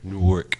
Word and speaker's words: Newark: you fund me if you say like work Newark how that goes how it looks on them